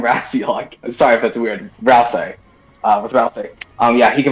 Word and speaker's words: Ralsei: Raziel? Ralsei. Whatever. Ralsei. I always call him Raz. I've never heard it pronounced like that.